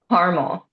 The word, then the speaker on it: Carmel: do you pronounce it caramel there's no extra a I'm from New York